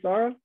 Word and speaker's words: Sarah: Am I pronouncing it correctly, Sarah?